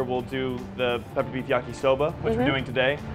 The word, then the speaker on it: yakisoba: We're back in the kitchen at Walton's International Comfort Food, and we are making peppered beef yakisoba.